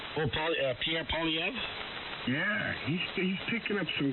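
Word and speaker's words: Pierre Poilievre: Oh, Pierre Polyev?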